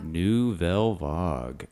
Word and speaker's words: Nouvelle Vague: boiled down, would you say that, and you pronounce it new no new vog? Novelvog.